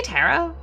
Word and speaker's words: tarot: Did you say tarot? Yeah. What do you have? Tarot. Tarot. Whoa. Whoa. Get a tarot. The tea is silent.